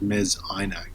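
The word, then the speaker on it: Mes Aynak: a phenomenal site called Mez Inac. And if you don't know me Inacc, it's spelled M-es the new word inacc.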